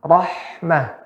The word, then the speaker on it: Rahmah: Ah, harusnya bukan Rahmat, Pak. Rahmah gitu, Pak. Pakai H kecil, Pak.